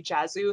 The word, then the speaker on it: Josue: right exactly but no I've heard the writers say Jesu so that's how I'm parroting it back to everyone else and when I see